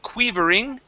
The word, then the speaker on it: quivering: let's go to quivering so instead of quivering it's qu quiver short eye uh quivering good good